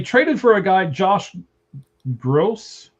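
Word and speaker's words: Grosz: Uh, they traded for a guy, Josh Gross. G- R O S Z is how the guy's name is spelled.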